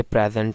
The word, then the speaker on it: present: प्रेजेंट है, PRESENT, प्रेजेंट, ये एक नाउन है, लेकिन जब ये वर्ब के तौर पर यूज़ होता है तो एक तो इसकी प्रोनाउंसिएशन भी चेंज हो जाती है और ये प्रीजेंट हो जाता है, प्रीजेंट, यानी इस स्ट्रेस जो है वो सेकंड सिलेबल पर आती है।